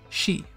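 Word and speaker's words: し: Next up, from the sa column, we have the first exception, which looks like a little hook, and it's pronounced she.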